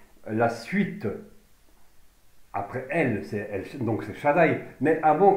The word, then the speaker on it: El: Donc on voit ici, donc est un raccourci d'A, Y, I, L, donc, mais ça donne sa consonance L quand même, hein, on l'entend L, qui signifie un grand arbre, mais mieux encore, L signifie un pilier, un pilier.